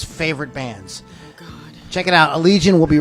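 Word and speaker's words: Allegaeon: that's the band Allegiant you have to say it like that Allegiant you have to yes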